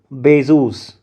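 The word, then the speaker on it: Bézout: Actually it's a French term. It's a French name of some mathematician. So that's why we say it is Bezos.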